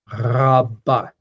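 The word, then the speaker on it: רבה: The Hebrew R is pronounced more towards the back of the throat. It's a ra, ra, ra, back towards the soft palate.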